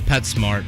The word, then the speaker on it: PetSmart: Petsmart official Twitter account tweeted in 2018, it is Petsmart. Okay. P-E-T, capital S, M-A-R-T, one word. And just for clarification, they go, pronounced Pet Smart.